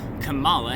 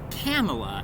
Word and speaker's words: Kamala: with you better if you pronounced it Kamala and not Kamala. Like Pamela Anderson Lee. Everyone loves her.